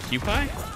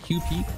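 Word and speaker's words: Kewpie: there's a thing are you talking about the cupid i just got yoinked no it's uh it's pronounced quick play like qp quick club does it go bad i've had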